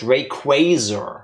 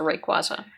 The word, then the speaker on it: Rayquaza: We know thanks to this movie that it's pronounced Rayquazer. I think I'm going to stick to Rayquaza.